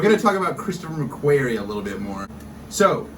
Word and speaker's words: McQuarrie: Writing, Christopher McQuire. Thoughts? I think it's pronounced Christopher McQuarrie.